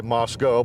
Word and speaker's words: Moscow: We are near Moscow, Kansas, or as the locals say, Moscow, but we're not going to go there.